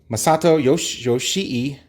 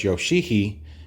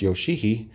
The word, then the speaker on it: Yoshii: Masato Yoshii. Remember, it's spelled with 2 I's at the end, so it's Yoshii, although you want to just call him Yoshi when I was a kid.